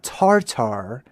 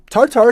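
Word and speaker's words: Tatar: T A T A R not Tartar. However, Tartar is fully acceptable.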